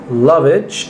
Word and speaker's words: Lovich: by the gatron 2000 is Lenny not Lenny Lonnie loveage I believe that's the correct pronunciation of her name new toy from 1981